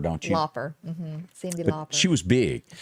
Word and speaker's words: Lauper: And you pronounce it Lauper, don't you? Lauper.